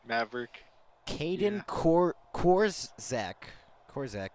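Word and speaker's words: Korczak: Maverick Kaden cor corac corac yeah that's how you say it Kaden corac with no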